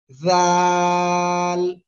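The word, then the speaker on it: ذال: আগার সঙ্গে লাগিয়ে জাল সবাই বলেন জাল এটাও কিন্তু নরম সুরে আওয়াজ হবে ঠিক আছে জাল যদি আপনারা একটু শক্ত আওয়াজ করেন তাহলে কিন্তু হবে না তাহলে এটা কি করব আমরা একটু নরম করে উচ্চারণ করব জাল জাল এ করে আমরা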